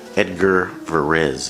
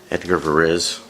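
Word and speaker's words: Edgard Varèse: there's enough taste and music styles for everybody Edgar Perez it's pronounced for is Edgar varèse actually his first name was probably eight garde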